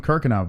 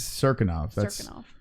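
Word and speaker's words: Cirkunov: Yeah, I was calling him Kirkov, but it is Cirinov. That's the proper way to say it.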